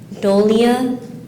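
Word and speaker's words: dolia: it's a plural noun are there any alternate pronunciations uh no doia doia can you please use this word in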